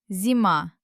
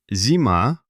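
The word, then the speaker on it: зима: The stress is at the end, on the letter A. Let's read it. So, looking at the letters, the first letter is Z, followed by the magical E. This means Z falls on the pillow and becomes soft. Z. Next comes M and A. M. It turns out Zima.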